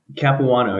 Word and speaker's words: Capuano: founders of LSAT Engine, how do I pronounce this? Capuano? Capuano, yeah, you got it. Capuano.